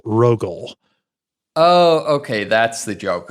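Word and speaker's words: Rogule: I guess Rogal. Yeah. Rogal. R O G U L E. So, it's like rogue but Wordle. Rogal.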